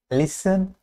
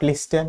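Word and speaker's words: listen: Silent টি সিএইচ এর আগে বা নির্দিষ্ট কিছু ওয়ার্ড হয়, যেমন ওয়াচ, লিসেন, ব্যালে, not ballot, not লিসেন, not watch, watch.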